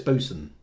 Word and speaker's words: boatswain: maybe somebody couldn't explain I know it's boson although it says though it's spelled boatswain uh it's boost and